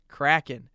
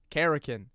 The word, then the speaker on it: Kraken: so people know that it's pronounced kraken not kerakin this guy's like hey